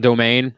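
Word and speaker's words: Doughman: Well, we got this place here called Domain, which is spelt like dough, like pizza dough, and then man. And it's pronounced Domain.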